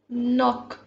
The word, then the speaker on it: knock: Knock. The K is silent here.